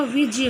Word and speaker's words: विज्ञ: विज्ञ, वैसे तो ये जय होता है, जय और ञ के योग से बना होता है, तो इसका एग्जैक्ट जो प्रोनाउंसिएशन होता है वो विज्ञ होगा।